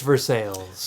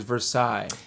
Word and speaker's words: Versailles: up it's for sales i believe the word you're looking for is versailles now if we're talking because in france they don't pronounce any any consonants yeah and at the end of words yeah they don't french